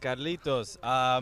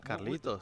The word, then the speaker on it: Carlitos: Because Cubans, we don't really pronounce the S, so we say Carlito. Carlito, but you. Carlitos.